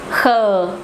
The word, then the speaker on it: khờ: Ca and hờ, khờ. You pronounce it khờ, khờ, khờ. It's a little bit hard, a little bit strong. hờ, khờ. Sorry, khờ.